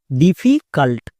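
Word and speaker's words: difficult: Next C ইউ, কা। কেন? আমরা জানি ইউ এর পাশে পরপর দুটো কনসোনেন্ট থাকলে ইউ এর জন্য আকার উচ্চারণ হয়, তাই সি ইউ, কু কিন্তু না, কা। নেক্সট এল টি এর জন্য লোয়েটো। হয়ে গেল। এবার একসঙ্গে উচ্চারণ করো, ডিফিকাল্ট, ডিফিকাল্ট, এরকম করে উচ্চারণ করতে হবে।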